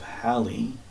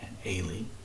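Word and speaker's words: Halley: is vulgarly called the comet of hi or Haley hi is probably a more likely British pronunciation attributed to a British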